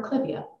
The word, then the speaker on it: clivia: I was taught that if the plant name comes from a person's name you keep the pronunciation of that person's name so you will hear